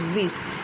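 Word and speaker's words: Wyss: है, तो जो क्लर्जीमैन जोहान डेविड विस, प्रोनाउंसिएशन इज़ विस, तो उन्होंने ये नॉवेल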